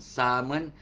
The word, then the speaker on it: salmon: They pronounce as salmon. L-nya disenyapkan ya, L disenyapkan ya. So orang kampung macam tu apa? So kau nampak kat restoran, kat hotel ada ikan salmon, jangan sebut ada salmon lagi salmon.